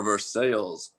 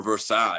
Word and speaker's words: Versailles: or london kentucky or versailles or versailles if you want to pronounce the correct way i mean i would